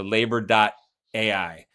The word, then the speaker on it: Laiber: So LAIBER, which is like, labor spelled with an AI and an ER. So labor.ai.